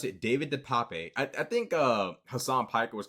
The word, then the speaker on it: DePape: There's no other way to pronounce it. David DePape. I think Hassan Piker was calling it DePipe, but I'm pretty sure it's DePape.